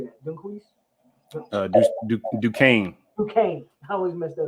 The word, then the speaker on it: Duquesne: do the quiz how do you say that duquesne okay i always messed that up due came boston college georgia tech louisiana and syracuse fsu